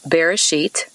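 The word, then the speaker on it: בראשית: you about that word beginning in hebrew it's pronounced bereshit and as i mentioned before in these talks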